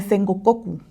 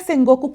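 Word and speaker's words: 戦国: Entonces, ¿qué estaba pasando en esta era de Sengokoku? S Goku, perdón, les digo, ya estoy empezando a pronuncionar mal. Ay, Dios. Pero bueno, le he echo ganas. Esta era de Seng Goku, ¿qué pedo o qué?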